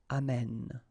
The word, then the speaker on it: amène: And then it will change, of course, the pronunciation, because you will have this sound open, amène.